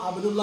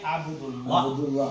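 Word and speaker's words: عبد الله: എന്ന് പക്ഷെ ചേർത്ത് ഉച്ചരിച്ചപ്പോൾ അബുദു അള്ളാ എന്ന് വിളിച്ചോ അബ്ദുള്ള എന്ന് വിളിച്ചുള്ള ഈ അലിഫ് എന്തായി മാറി ഹംസ് സൈലന്റ് ആയി എഴുത്തിലുണ്ട് ഉച്ചാരണത്തില ഇല്ല ഇല്ല അതങ്ങനെ ചിലപ്പോ എഴുതാനും അതില്ല എഴുതാനും എഴുതാനും അപ്പൊ എന്തായി അബ്ദുള്ള മനസിലായോ അബ്ദുള്ള എന്ന് പറയുമ്പോൾ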